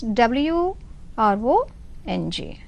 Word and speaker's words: wrong: the word wrong is w r o n g wrong but you start the pronunciation from r w muslim are wrong